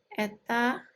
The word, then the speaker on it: eta: Jadi ini dibacanya eta ya.